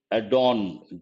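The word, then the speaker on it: Erdoğan: Turkey's Recep Tayyip Erdogan, G is silent, I suppose, who visited Ukraine last week, has offered to host a peace meet.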